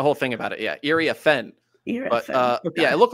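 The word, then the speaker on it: Iriafen: Well, we apparently had been saying her name wrong, according to Ryan Rucco and Rebecca Lobo. Ariafin.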